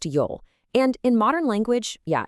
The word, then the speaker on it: 由: That's pronounced Yol.